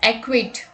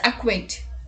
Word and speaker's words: acquit: Many people pronounce this word as acquit, but the correct pronunciation is acquit, meaning to state formally that a person is not guilty of a crime.